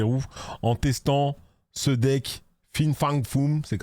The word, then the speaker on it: Fin Fang Foom: en testant ce deck Fin Fang Fum ? C'est comme ça que ça se prononce.